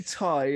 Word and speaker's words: Tay: They say Ty, and it's spelled Tay. Confusing.